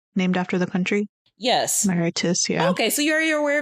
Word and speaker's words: Mauritius: Is that how you pronounce it? It's based off the country, right? Named after the country? Yes. Mauritius, yeah.